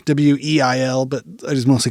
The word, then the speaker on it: Weil: I feel like that's the more German pronunciation, Weil, but I just mostly call her Sophie.